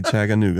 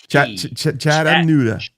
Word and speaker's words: Chattanooga: because I can't say Chattanooga. That's why I'm here. Hey, it's not a G or a D. It's a Chattanooga. You know what? Actually, down here, they pronounce it like it's a D.